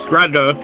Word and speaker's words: Grade: Anyway, for more than 2 decades after his death in 1982, Ina Hecker Grade, pronounced Grada, cantankerously repulsed almost all efforts to translate or publish his works or sift through his papers.